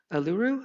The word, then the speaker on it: Uluru: It's interesting because if I'm correct on this, there was a hotel in Australia called Uluru. Am I pronouncing it Yeah, correctly? Uluru Rock, yeah.